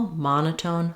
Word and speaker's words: monotone: the word uh um it's a short reduced sound Mona monotone it's almost it's very fast the ma is stretched and the n and tone are shorter but we do have secondary stress on the last syllable tone because we have our